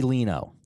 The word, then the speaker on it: Lino: Eddie Lino. That was Close. close. Rhymes with Gino.